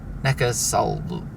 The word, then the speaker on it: Neckarsulm: here in NECA I can't remember how you pronounce it NECA Sal how you pronounce it necas there we go